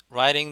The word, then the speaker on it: writing: Haven't you finished writing the report? 그랬죠? writing 미국식 발음이니까 T 발음이 모음사에서 발음이 R로 바뀌었습니다.